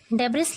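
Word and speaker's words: debris: डेब्रिस लिखा है लेकिन एस साइलेंट है, एस को नहीं पढ़ते हैं, इसे पढ़ेंगे डेब्री.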